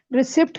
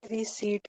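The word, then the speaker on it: receipt: रिसीप्ट कहते हैं या रिसीप्ट कहते हैं? रिसीट कहते हैं।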